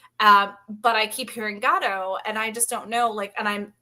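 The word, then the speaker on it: Godot: Wait, it's God, not GAD.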